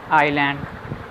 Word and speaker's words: island: Next ਦੇਖਦੇ ਹਾਂ ਜੀ S is not pronounced before L in the following words. Examples island, isle, ਫਿਰ ਇਹ ਵੀ AISLE ਵੀ ਸਪੀਕ ਹੁੰਦਾ ਜੀ ਆਇਲ।